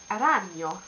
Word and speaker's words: ragno: Or, in fact, you say ragno and not ragno, which would sound incredibly strange.